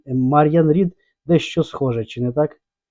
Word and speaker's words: Мар'ян Рід: Тільки прошу, будь ласка, вимовляйте моє ім'я з наголосом на перший склад. Мар'ян Рід, а не Мар'ян Рід.